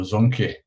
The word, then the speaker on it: Zonke: yes, you did pronounce the name of Zonke Energy quite correctly.